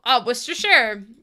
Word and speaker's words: Worcestershire: Worcestershire. Worcestershire. Worcestershire. Worcestershire. No, because that's really funny then. Oh, the one I sent is pronounced Donegal. Donegal. Repeat after me. Donegal. It's Worcestershire sauce. Wash your sister.